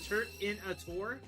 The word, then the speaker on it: Turtonator: By shifting the emphasis, Turtonator sounds like Turt in a Tor, or Turt in a container.